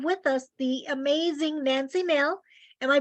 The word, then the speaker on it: Mehl: And tonight we are so excited because we have with us the amazing Nancy Mehl. Am I pronouncing your name correctly, Nancy?